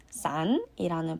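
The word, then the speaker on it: 伞: 그래서 부정적으로 여겨지고 있고 다음은 우산, 싼이라는 발음의 단어인데요.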